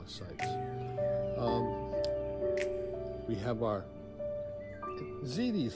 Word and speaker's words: ziti: We have our ziti is how you pronounce it, isn't it? Mm-hmm. Not ziti, it's ziti.